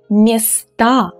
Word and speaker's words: места: But when we change them into the plural form, the ending becomes stressed and it becomes A. Now it's a strong A. So it's the real sound A. So we pronounce it strongly. Слова, права, дела, места.